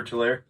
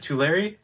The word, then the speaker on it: Tulare: We're not signed up for Tulare?